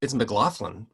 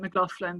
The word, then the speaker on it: McLaughlin: Well, it's McLaughlin, right? That's how you No, pronounce it? when I married my husband, he's American, and so they pronounce it McLaughlin. But in England, it would be McLaughlin, and so I said I'll change my name